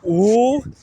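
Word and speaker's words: 五: Now in Chinese the word five is pronounced ooh.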